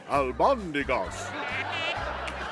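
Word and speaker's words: albóndigas: It's pronounced albondigas.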